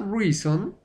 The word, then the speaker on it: reason: Reason, la O no suena.